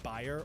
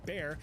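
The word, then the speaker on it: Bayer: BA or more commonly pronounced buyer or bear decided to take a stab in the lab to produce something fab.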